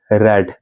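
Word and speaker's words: read: a book being रेड हालांकि य है रीड आर ई ए D pronounce थोड़ा चेंज हो जाता है रीड रेड रेड यानी कि ये सिमिलर है जैसे कि रेड कलर होता है ना रेड तो वही वाला रेड है ठीक है सो वाज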